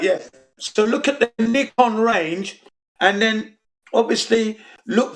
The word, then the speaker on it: Nikon: pronunciation is it's it's nikon that's how you pronounce it because it's japanese product and the pronunciation is knee nippon nihon nikon not nikon okay so it's a